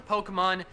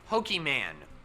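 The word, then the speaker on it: Pokémon: i hope and finally number 10 is correcting pronunciation we have all heard someone refer to pokemon as pokeman or pokemans and you gotta call him out on that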